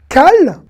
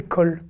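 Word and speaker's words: כל: Alors ce mot se lit comment? Cal ou col? Eh bien la réponse c'est col.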